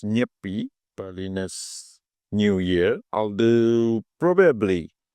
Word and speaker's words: Nyepi: It's pronounced nippy.